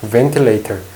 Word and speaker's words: ventilator: 레레 레터가 t 레터 ventilator V 발음할 때랑 어는 입술이 다 씁니다 p 입술이 닿아요는 입술이 안 닿습니다 하고 윗입술이 아랫 입술이랑